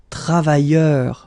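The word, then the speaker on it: travailleurs: So phonetically it's the same, travailleur singular form without the S, and then travailleur plural form with the S, it's the same.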